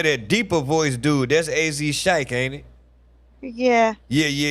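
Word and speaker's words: AZ Chike: French Mont French Montana Relle say wait a how you pronounce his name AZ Shik AZ Shik okay is he on GNX he's on Peekaboo my favorite song of the Okay.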